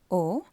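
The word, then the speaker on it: aux: ஸோ அந்த AU Xோட முடிகிற நீங்கள் ஓன்னு தான் ப்ரொனவுன்ஸ் பண்ணணும். அந்த X வந்து சைலண்ட். ஸோ O.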